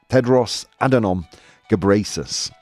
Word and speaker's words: Tedros Adhanom Ghebreyesus: I did download a video to figure out how to pronounce it. Tedros Adhanom Ghebreyesus.